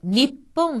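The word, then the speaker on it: にっぽん: 거죠 학교 라는 뜻이구요 다음에 니 뿐 작은 수 다음에 뽑아 왔으니 가피로 발음 되어서 일본 이란 뜻인데 니 뿡 하는 씩의 b 읍 처럼 들립니다 그 다음을 자음의 대해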